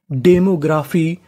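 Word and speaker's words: demography: demo ji आर ए ग्र और आखिरी में लिखा है पी एच वाई पी एच वाई को पढ़ते हैं हम लोग फी क्या पढ़ते हैं फी तो मीनिंग बनी डेमोग्राफी डेमोग्राफी डेमोग्राफी का मतलब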